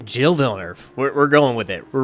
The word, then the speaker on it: Gilles Villeneuve: Gilles Villeneuve. We're going with it. We're rocking with that pronunciation.